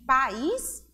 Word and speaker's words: país: Observe que o tom da palavra, a pronúncia da palavra, se modificou, diferenciou, certo? Por conta de quê? Por conta da acentuação gráfica, por conta do acento agudo existente na palavra país.